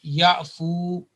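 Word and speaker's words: يعفو: Technically it is called alif wiqaya or protective alif in English, but it should not be pronounced. So it will be ya'fu.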